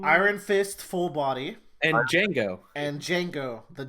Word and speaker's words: Django: And Django. And Django, the Django. The D is silent.